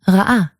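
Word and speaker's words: רָאָה: This even works when you have the same vowel twice in a row. As in ra'ah or be'er. That said, in casual speech,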